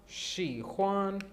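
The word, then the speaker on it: 喜欢: मैंने आपको बहुत मरतबा बताया है कि एच की प्रोनाउंसिएशन हे और खे दोनों की निकलती है, दोनों की सही है चाइनीज़ में।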